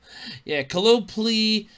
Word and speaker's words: Colopl: f***ed with, decided to sue Japanese game developer Coloply. And I know I'm probably mispronouncing it.